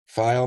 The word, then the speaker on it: Pfeil: Do you say the P? Pfeil? Pfeil Magazine, but it's spelled P-F-E-I-L.